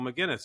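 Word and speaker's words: Maginnes: he's a commentator but his last name isn't spelled like a normal mcginness it's m a i n nees and he was playing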